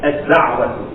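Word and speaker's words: الدعوة: The word ad-da'wah, and in Arabic it's spelled like this. Alif, Lam, Dal, Ain, Waw, Ta'u marbuta, closed tap. Alif, Lam, Dal, Ain, Waw, Ta'u marbuta. Ad-da'watu. Ad-da'watu.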